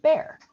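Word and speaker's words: Bexar: the town that is spelled b-x-a-r is actually pronounced bear i did not know that ah you can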